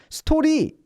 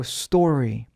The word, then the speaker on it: story: 스토리 이러지 말고 story 이런 식으로 이제 알발음 좀 신경 써주시고 그리고 사실은 말이죠.